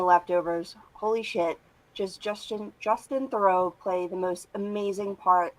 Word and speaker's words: Theroux: Was it? Throw? No, Theroux. Justin Theroux.